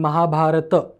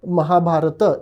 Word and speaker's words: Mahabharata: not true in Sanskrit in Sanskrit if the word ends in a letter you have to pronounce the whole letter so it is Ram